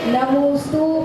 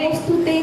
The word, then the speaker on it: नमोस्तु: नमोस्तुते नहीं, नमोस्तु परमात्मने।